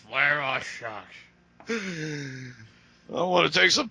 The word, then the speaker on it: Vladivostok: That was properly pronounced. Vladivostok.